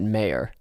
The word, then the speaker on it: Meyer: lemon which is spelled m-e-y i would pronounce that mayer i would pronounce mare